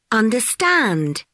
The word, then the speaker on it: understand: The third syllable is under the stress. Afternoon, engineer, understand.